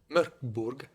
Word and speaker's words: Mörk Borg: Je dirais Morkborg. Okay, j'ai pas une bonne prononciation.